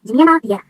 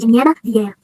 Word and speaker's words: Jimena Vieira: First of all, I have a double name, Jimena Vieira. Yeah, that's how you pronounce it, Jimena Vieira.